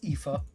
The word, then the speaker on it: Aoife: Also, I did find out how to pronounce that. That is Aoife. Apparently, Irish, an Irish name.